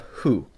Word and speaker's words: ふ: And now we have hu. And this is an interesting sound because the hu sound, sometimes it actually starts to sound almost like an F.